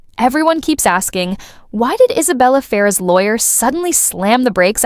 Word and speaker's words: Isabela Ferrer: I I I look, I learned how to say this girl's name, Isabella Farah.